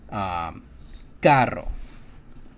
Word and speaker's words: carro: So something like carro, car. That's right, carro. When we have two R's in it, it's going to have a hard sound.